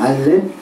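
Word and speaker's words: אלף: 헬라어 알파벳은 알파로 발음되지만, 문자도 그렇게 A로 그렇게 쓰지만, 히브리어로는 발음이 알렙입니다. 알렙.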